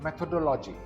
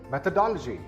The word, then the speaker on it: methodology: This word is not methodology. It is methodology. Again, this word is methodology.